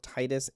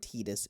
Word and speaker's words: Titus: Well, the thing is with Titus, they call it's pronounced both Titus and Tetus both in English.